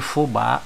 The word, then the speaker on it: fubá: vou destacar a sílaba tônica de fubá é a sílaba Bá deixa eu marcar embaixo